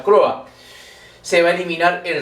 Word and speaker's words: Croix: En 1784 las intendencias bajo el gobierno del virrey Teodoro de Croix, o la Croa, se pronuncia Croa.